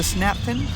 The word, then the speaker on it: Snaptain: This is the Snaptain, rhymes with Captain, A10 mini drone.